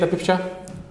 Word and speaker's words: Abhipsha: Is that how you say it, Abhipsha? Yeah, pretty much. You're doing better than everyone else.